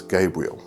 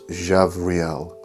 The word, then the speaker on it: Gabriel: And the B in the name is actually pronounced as a V. So it's not Gabriel, it's Javriel.